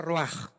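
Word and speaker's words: רוח: Roach se pronuncia roaj.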